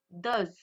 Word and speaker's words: does: s qui nous donne does. Attention aussi à la prononciation. Dou does. Vous voyez la prononciation n'est pas la même.